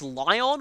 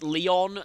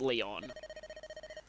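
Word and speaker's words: Lyon: I used to pronounce this Lion when I played, but dialogue in Fire Emblem Heroes says it Leon, and that's how it's said in Japanese as well. So, yeah, I'm going to pronounce it Leon.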